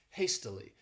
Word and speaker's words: hastily: This word has 3 syllables and the stress is on that first syllable, hastily.